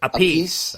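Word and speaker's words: Appice: how do you say his last name Dave a piece a piece a piece because he was the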